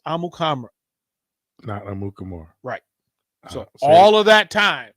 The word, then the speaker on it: Amukamara: done long time ago the correct pronunciation for his last name and from his own mouth was Prince amukamara all of that time